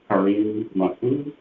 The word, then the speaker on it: Kareem Mahfouz: Kareem Mahfouz, am I pronouncing that correctly? Correct, thank you.